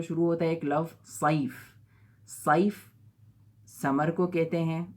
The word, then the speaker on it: صیف: صاد سے جو شروع ہوتا ہے ایک لفظ صیف، صیف سمر کو کہتے ہیں، موسم گرما، گرمیوں کے سیزن کو صیف کہا جاتا ہے۔ اگر ہم غلطی سے اس کو صیف کے بجائے سیف بول دیں، تلفظ اس کا یہ ہو جائے